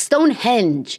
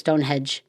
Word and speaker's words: Stonehenge: So, this one is Stonehenge specific and it's Stonehenge. I feel like when I first heard of Stonehenge, I I was wondering if it was Stonehedge, I thought it was Stonehenge, but it's not a hedge, it's henge.